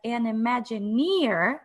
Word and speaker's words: Imagineer: Today, Veronica considers herself an Imagineer. Am I pronouncing it correctly?